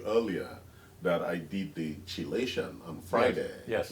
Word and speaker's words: chelation: That's wonderful, because I know that I was telling you earlier that I did the chelation on Friday. Yes. Chelation. Yes. Chelation, not chelation.